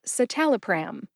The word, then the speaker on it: citalopram: a baby carriage pram put that all together and you get satal pram emphasize the second syllable tal see if you can